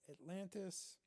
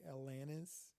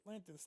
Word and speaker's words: Atlantis: who would always say Alanis. Hey, you like Alanis? Alanis Morissette? There was a T in there. Pronounce the T.